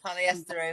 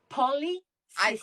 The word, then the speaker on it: polycystic: Who's got polyester ovaries, everyone? EQ, can you please say it correctly if you're going to say it? What is it again? Polycystic.